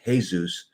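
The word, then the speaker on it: Jesús: In Spanish, it is Jesus, pronounced Jesus. And so on.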